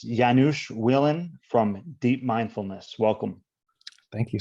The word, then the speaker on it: Janusz Welin: a special guest it's janusz willen deep mindfulness welcome thank you so much and i'll just we were talking about the pronunciation before i'll just i'll say it's janusz wellin perfect thank you okay